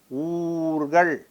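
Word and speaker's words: ஊர்கள்: Mark my pronunciation. Ur plus kal, Oorgal. This is oor, it remains the same. Kal is added. This kal, this ka in this kal is preceded by other letters. So, naturally, this is pronounced differently. So, this is oorgal.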